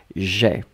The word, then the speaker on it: j'ai: So j apostrophe and then ai, you pronounce it e, j'ai.